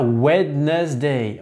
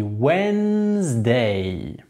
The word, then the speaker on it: Wednesday: On dit pas Wednesday, on dit Wednesday.